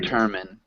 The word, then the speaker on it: determine: determine. Determine. Yeah, so it's got the short I, even though it looks like it should be the long I.